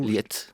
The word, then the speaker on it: Lëd: L'Aide, on le prononce comment alors du coup? Liette. Ah, c'est ça, Liette. Alors j'ai dit Lyotte, c'était n'importe quoi du coup.